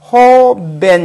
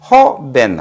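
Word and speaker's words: joven: 이와 같이 이야기 되겠습니다 그다음에으로 끝난 경우도 마찬가지죠 우리가는 지난 발음 시간에 이야기했던 것처럼 히 발음을 강하게 하자해서 호벤 이렇게 되겠죠 따라서으로 끝난 그런 문자 어 단어이므로 끝에서 하나 두 번째 강세의 중심은 모에 와서 허벤 허벤 허벤 이런 형태로 이제가 강세를 주면서 읽을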